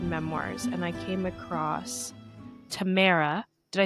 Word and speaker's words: Tamara: I was researching memoirs because I love to read memoirs, and I came across Tamara.